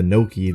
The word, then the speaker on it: Noki: anything in Italian, but it's pronounced the same as gnocchi, the delicious and popular Italian dish, which means they do probably taste good.